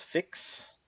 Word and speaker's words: PHYX: I believe it's pronounced Fix Keyer.